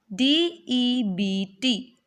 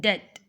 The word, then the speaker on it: debt: D-E-B-T, but B should be silent here.